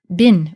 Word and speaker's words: bin: So one example would be the word bin, is how we pronounce it now in modern times, which means something that is bad or evil.